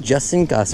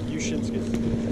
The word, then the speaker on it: Jusinskas: I thought it was like Jusinskas or something like that. Oh, the J is silent. Nice. The J is silent? The J is silent. Jusinskas. Oh, Jusinskas.